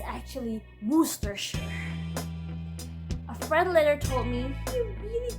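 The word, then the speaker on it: Worcestershire: He even taught me how to pronounce workers properly. It's actually worersher.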